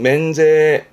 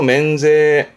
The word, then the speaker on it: 免税: 세금을 면해주는 면세, 발음은 맨제, 음으로는 맨이네요. 맨제.